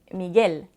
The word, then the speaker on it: Miguel: Le U est un peu spécial parce qu'il est muet devant le I et le E.